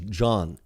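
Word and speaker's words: jawn: the root of it it's john right j-a-w-n and it uh some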